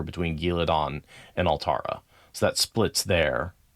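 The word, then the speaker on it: Ghealdan: I I I do definitely three syllables. Gil, like ghoul, uh because there's an a in between it and then dan or dawn.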